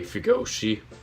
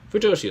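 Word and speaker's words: 腐女子: Oh, Fujoshi. Yeah, Fujoshi is right.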